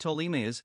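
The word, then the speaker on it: Ptolemais: 7 the next stop was talameh pronounced tolimius a seaport approximately 25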